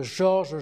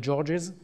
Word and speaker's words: Georges: on met un S, mais le S est muet en français, ce qui ne pose pas de problème, alors qu'en anglais, il serait prononcé, ça deviendrait Georges, et ça ne serait plus le...